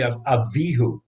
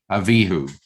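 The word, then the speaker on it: Abihu: about uh aaron's sons what is the correct pronunciation where do you put the information it's actually a vihu a vihu right okay now those names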